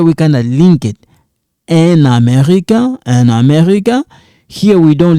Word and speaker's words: un Américain: We don't pronounce it. Here we kind of link it. Un Américain.